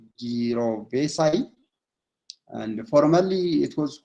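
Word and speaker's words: jirovecii: They pronounce it as gyrovesi.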